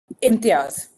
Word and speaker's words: Imtiaz: Pronounce your last name for me again. Imtiaz. Oh, it's exactly like it's spelled. Yep. Okay, Ms. Intiad, thank you very much.